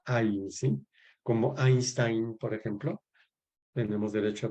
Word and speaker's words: Einstein: Y en alemán, pues el EI se pronuncia Ein, ¿sí? Como Einstein, por ejemplo. Tenemos derecho a pronunciar Einstein también, si queremos, ¿verdad?